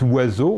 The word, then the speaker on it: oiseau: Quand vous dites oiseau, on n'entend ni O, ni I, ni Z, enfin ni S, pardon.